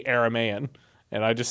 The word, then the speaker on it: Aramaean: spoke Aramaic, and so it must not be pronounced Aramean, it has to be Aramaean, and I just sound really dumb in that old video.